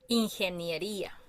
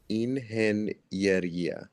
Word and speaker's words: ingeniería: Ingeniería. Ingeniería. Yeah, it's in ge nie ría.